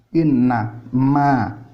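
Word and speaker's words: إنما: Inna ma, ya bacanya tetap innama, tapi ditulisnya itu pakai spasi.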